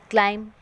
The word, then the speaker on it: climb: So, you see it but don't say it in words like thumb, climb, numb, comb.